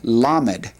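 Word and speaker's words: למד: The 12th letter of the Hebrew alphabet is what's called lammed. Lammed. It's a definite l sound. Lammed.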